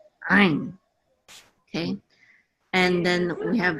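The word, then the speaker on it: עין: And this ayin, they also say that this is silent, but if it were guttural, it shouldn't be silent, right? So the real sound that ayin was supposed to make is ayin. Ayin. It's like you're a Klingon.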